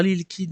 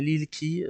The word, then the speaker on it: Lil Key: Découverte du jour, on va parler de Lil Key, pas Lil Kid mais Lil Key, ça s'écrit à peu près de la même manière, sauf qu'il n'y a pas un D à la fin.